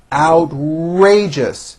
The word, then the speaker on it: outrageous: idea is certainly original outrageous three syllables first syllable has the ow sound followed by an R outrageous that was an